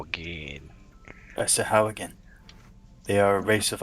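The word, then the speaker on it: Sahuagin: in your language they are called Sahawagan. Sahawa, what? It is spelt Sahauagin. Yeah. Sahawagan.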